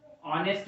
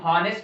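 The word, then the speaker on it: honest: ऑनेस्ट जो है इसमें एच साइलेंट है, इसको हम हॉनेस्ट नहीं पढ़ते हैं, इसको हम पढ़ते हैं ऑनेस्ट मैन।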